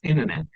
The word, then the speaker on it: internet: So this is about the T sound where we get T silent when we have an N before T. So N T it's T sound T sound will be silent.